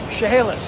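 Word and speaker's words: Chehalis: Mark West Harrison FSR also known as chahalis if I'm pronouncing it correctly although from the spelling you wouldn't know that Harrison Lake you never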